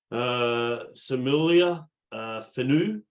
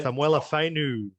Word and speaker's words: Samuela Fainu: Samulia Fenu, if that's how you pronounce it. Big T. There's hard bloody names like Tino's There are names. some hard names out there. Yeah. Samuela Fainu.